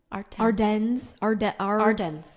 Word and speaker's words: Ardennes: Ardennes.